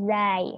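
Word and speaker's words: ز: Huruf hijaiyah selanjutnya adalah zai. Nah, tadi kan zail. Tadi kan za. Dibacanya itu za. Nah, kalau ini benar-benar z. Jadi dibacanya itu za. Za. Nggak ada lidah yang di depan seperti huruf zal.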